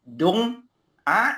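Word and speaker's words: dont: d o n t le t tu ne vas pas le prononcer ok alors que parce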